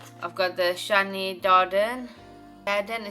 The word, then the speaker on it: Darden: Darden is how you say it, but this is a moisture boost plumping.